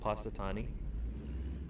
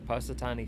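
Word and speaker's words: Punxsutawney: place in Pennsylvania called patani I don't know how to spell it there's X in it doesn't sound like there should be but there is patani Phil I think is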